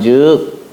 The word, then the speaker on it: 則: 이제 얘기가 된 겁니다 법칙을 뜻할 때는 측이라고 읽고 그럼 먼 뭐한 즉 이렇게 예 이러한 즉 할 때는 곧 즉이 이렇게 읽는 것이죠 솥에다 칼로 세겨 가지고